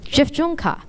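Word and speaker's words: dziewczynka: this well you're wrong it's pronounced JF junka it's a Polish word that means girl many of you have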